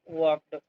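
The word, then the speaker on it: walked: यहां पर L silent है। वॉक नहीं पढ़ना है। वॉक वॉक्ड ही वॉक्ड अप वह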